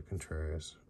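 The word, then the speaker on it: Contreras: here dang bang and then there there's a contrarius that's how you say his name Wilson and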